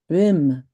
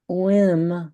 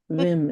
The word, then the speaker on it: Wim: Wim Hof and which is Vim. It's not whim like Americans say the W. It's Vim.